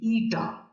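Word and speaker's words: η: ঠিক আছে, উচ্চারণটা লিখে দিচ্ছি এখানে, এই যে এইখানে দেখো, এই যে নীল রঙে লেখা আছে, এর উচ্চারণটা হচ্ছে ইটা।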